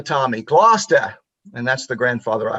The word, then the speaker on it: Gloucester: I called it Gloucester because that's how it's spelled. And he corrected me immediately with that heavy Boston Irish accent. He said, "Gloucester, Tommy, Gloucester."